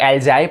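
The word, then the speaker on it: algae: Biological pollution के बारे में बात करें तो जो कुछ लोग इसको एल्गे प्रोनाउंस करते हैं, कुछ लोग एल्जाई प्रोनाउंस करते हैं, राइट, कुछ लोग एलजी प्रोनाउंस करते हैं. एलजी I think it इज़ a better word.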